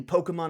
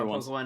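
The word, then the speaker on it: Pokémon: secret I was literally gonna I thought you pronounced it pokeemon man actually I used to do that ironically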